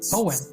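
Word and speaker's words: Eoin: learn something okay owen owen yeah okay oh and that's what it that's what i'm this video's owen okay that's an interesting way to spell cohen e o i n i like that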